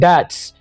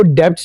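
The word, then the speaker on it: debts: O Allah protect us from poverty and डेट्स. O Allah protect us from poverty का माना होता है गुर्बत और मुफलिस. यहां पर हम इस वर्ड को डेब्ट्स नहीं बोलेंगे, हम बी को साइलेंट रखेंगे.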